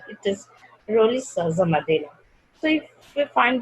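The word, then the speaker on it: Rolihlahla: There is no S is written, but when we pronounce African accent, it is Roli Shaza Mandela.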